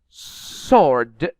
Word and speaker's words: sword: You can notice it is very difficult to pronounce the M letter here, especially in this word. Autumn, autumn, not autumn. Sword, not sword.